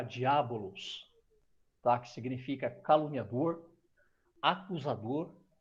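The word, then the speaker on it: διάβολος: Esse nome, ele é uma transliteração do grego que se pronuncia diabolos, tá?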